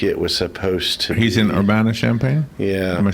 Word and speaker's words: Urbana-Champaign: eight I think it was supposed he's in urbana-champaign yeah I'm saying it right yeah you bet